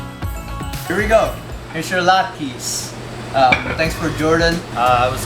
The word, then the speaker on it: latke: How do you pronounce it? Latkes. Latkes.